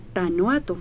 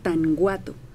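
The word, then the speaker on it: Tanhuato: felicito a Héctor porque pronuncia muy bien tanoato Michoacán los demás locutores pronuncian tanguato le ponen G Yo soy de allá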